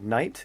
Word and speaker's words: knight: oh by the way Knight is in a night and shining armor K that's why it's spelled k n i g HT fny there was and